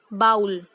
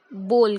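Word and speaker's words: bowl: Many people refer it as बाउल, but it is wrong. I think सबने movie देखी होगी बोल बच्चन। जो इसका फर्स्ट वर्ड है वही हमारी इसकी करेक्ट प्रोनाउंसिएशन है। हम इसे बाउल नहीं कहते, बोल कहते हैं।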